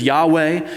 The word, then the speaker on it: Yahweh: Sometimes you'll hear that pronounced in the Hebrew as Yahweh.